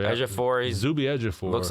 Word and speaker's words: Ejiofor: Ejiofor, yeah. Ejiofor.